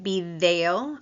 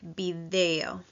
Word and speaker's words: video: The letter D in Spanish, like video. Again, your tongue is between your teeth. Video.